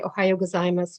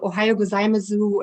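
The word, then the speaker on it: おはようございます: end ohayo gozaimasu and i didn't know the u is silent so i would walk to the neighborhood and say to all the japanese people ohayo gozaimasu and later i found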